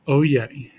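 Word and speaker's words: oyez: Pronounced oye, comes from the French, means to listen.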